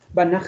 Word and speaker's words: Banach: Some would say Banach, as if it's say, but it's a Banach. Banach space or Banach. If you find it difficult to call or to pronounce, you say Banach. But it's Banach.